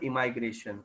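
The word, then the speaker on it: emigration: बट अभी माइग्रेशन दो प्रकार के है, इमिग्रेशन और इमाइग्रेशन. जानबूझ के उसका प्रोनाउंसिएशन अलग निकल रहा हूँ. इमिग्रेशन यानी आना, जो आई से स्पेलिंग चालू होती है, और इमाइग्रेशन यानी जाना पर्टिकुलर पॉपुलेशन से, जो ई से चालू होती है.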